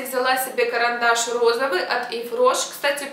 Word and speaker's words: Yves Rocher: Я все-таки не удержалась и взяла себе карандаш розовый от Yves Roche. Кстати, правильно говорить Yves Roche, а не Yves Roche, как оказалось.